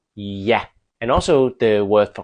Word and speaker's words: ja: For example, the Danish word for yes, Yah, sounds more like it's spelled with a Y. Yah.